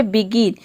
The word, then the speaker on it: begin: देखिए यहां पे है बिगिन बिगिन में आप देख रहे हैं कि जी के बाद रूल के अकॉर्डिंग आई आ रहा है लेकिन हम यहां पे जी को ग प्रोनाउंस करते हैं यहां पे जी को हम ज प्रोनाउंस नहीं करते हैं यहां पे देखिए बी